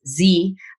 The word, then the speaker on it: Zorakle: If you haven't checked them out, make sure you do go look up Zoracle, spelled with a K. So it's Zorakle, or if you're in Canada, Zorakle, same word.